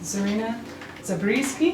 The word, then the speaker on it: Zarina Zabrisky: So again, everyone listening, we've been with Zarina Zabrisky, Did I say it right?